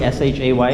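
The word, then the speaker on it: Shae: Shay, S-H-A-Y? S-H-A-E. Oh, Shay, okay. Same pronunciation.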